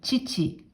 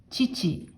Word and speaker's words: 父: 訓読みで父、父と読みます。